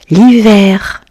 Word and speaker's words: hiver: L'hiver. I. Le H est muet. Vert. L'hiver.